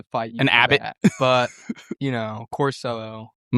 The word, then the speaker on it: Corsello: I've heard it pronounced Costello. And I might have to fight you. An Abbott. But you know, Corsello, I'm going to start calling you Nate Abbott.